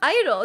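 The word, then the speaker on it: (G)I-DLE: supposed to be pronounced Idol the G is like silent and I'm like why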